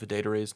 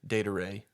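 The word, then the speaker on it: Adedire: so I was like it rhymes with day-to-day data Ray when he's not a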